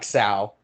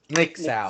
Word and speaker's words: N!xau: Ixao. No, Nick Sao.